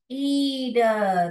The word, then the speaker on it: read: Okay अभी आपने देखा होगा, ध्यान दिया होगा वर्ड्स लाइक ये देखिए, जब हम बोल रहे हैं रीड रीड, ये करेक्ट हो गया.